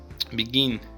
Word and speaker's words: begin: Begin, beginning. So begin, in the word begin, stress is on the second syllable, so we doubled the last n.